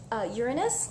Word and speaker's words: Uranus: Uranus, let's keep it pronunciation time, right? Keep it closer to astronomy than anatomy.